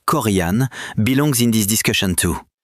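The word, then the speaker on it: Corian: Korean pronounced Korean belongs in this discussion too.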